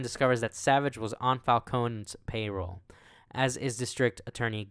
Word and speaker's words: Falcone: a nightclub operated by the Penguin, mobster Carmine Falcone's lieutenant. By the way, I noticed that in this movie they pronounced his name Falcone instead of Falcone.